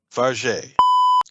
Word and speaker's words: Fargeat: It is pronounced Farge.